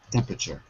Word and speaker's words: temperature: that's right measure Jack's temperature temper uh sure and the pronunciation everyone is a little tricky it's not temp temperature it's temperature temperature say that for me